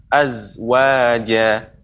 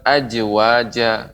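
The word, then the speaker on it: أزواجا: Allah Subhanahu wa taala berfirman azwaja, az. Ya. Jadi bukan ajwaja.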